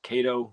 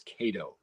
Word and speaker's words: Kato: I think it's Kato. I did look on Googled it after we got back, and it's like, how do you pronounce this? And and it's like Kato is the automated voice. So on my video, you're going to hear me pronouncing it both ways, Kato and then Kato. And I didn't hear anybody